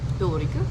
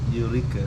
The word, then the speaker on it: Eureka: And how do you say your name again? Sorry. Ulrika? Eureka. Eureka. Yeah. Eureka. It's like a Netherlands name. No, it's German actually. Eureka.